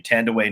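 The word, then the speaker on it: Thandiwe: who is now and i love that this pronunciation is happening tandaway newton um who used to be tandy newton uh that's such a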